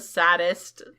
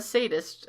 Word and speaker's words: sadist: felt bad for him even though i'm a saddest or is that how sadist is spelled it is okay say this or say say this okay even though i'm a sadist so i stopped ebony he yelled thou must